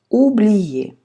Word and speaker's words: oublier: Je chantais pour oublier. ОУ опять звук У.